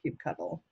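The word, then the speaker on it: kubectl: definition last year that said cute control it's pronounced cute cuddle I'm still trying to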